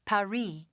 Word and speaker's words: Paris: Yeah, well, the locals pronounce it Paris.